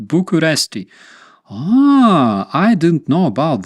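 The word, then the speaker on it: București: read the text uh the capital of Romania is pronounced by in the world as buest but in fact in Romania it is pronounced totally different bucharesti ah I didn't know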